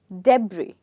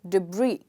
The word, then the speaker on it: debris: first part is not so listen to me very carefully if i stress the first part the word becomes debris all right but if i stress the second part the word becomes debris which is the correct pronunciation of this word okay now with this